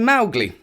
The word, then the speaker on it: Mowgli: of it is pronounced mly Accent on the Mau which rhymes with cow so that is why we're pronouncing his name malgi just as Kipling instructed